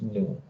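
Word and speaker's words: ν: this uh this uh this greek letter is called new this is a greek letter which is pronounced as new okay and alpha this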